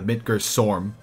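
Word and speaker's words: Midgardsormr: The Midgar Sarm, because you don't pronounce the R at the end of the word, its name.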